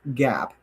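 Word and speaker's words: GAAP: this is what follows what's called gap GAP. I know you doesn't like Mark that doesn't spell gap well that's how they say it don't beat me up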